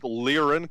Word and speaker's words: Liron: speaking of hating you you pronounce it liron Commonwealth its Liron Commonwealth if you say liar and I'll slap you it's Lauren no Byron